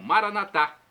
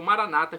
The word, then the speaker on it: Maranata: de dialeto de Jesus eu clamo maranat como dizemos nós católicos ou Maranata como dizem nossos irmãos separados doos evangélicos ou protestantes não importa a pronúncia o